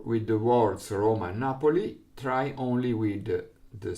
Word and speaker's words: Napoli: on the first syllable, and Napoli with accent on the first syllable.